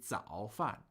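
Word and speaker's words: 早饭: So that would be 早饭.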